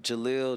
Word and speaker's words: Jeleel: your legal name my full name is Jalil but is like I'm I'm Muslim so like is what they put before a lot of Muslims names yeah but Jalil Jalil has always been like everybody calls